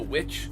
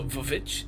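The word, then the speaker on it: VVitch: music they play in the witch or the vavich if you read it the way it's it's spelled.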